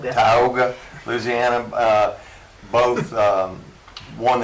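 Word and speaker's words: Tioga: in a World Series in I think it's Taiga, Louisiana. How do you say that? Tyogga. Tyogga, Louisiana.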